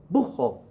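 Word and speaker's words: búho: Aguila okay el Ojo buho okay so I'm say elbow because get rid of the age sometimes because of the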